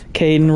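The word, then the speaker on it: Kaidan: okay his well yeah Kaden rhymes with gayen so keep it low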